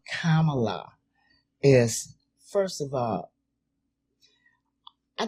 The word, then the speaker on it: Kamala: We got to make sure you say her name right. I said Kamala. Kamala. Okay. I don't want her to come and check you and tell you Vicky Dobbins is Kamala, not Kamala, okay. but Kamala.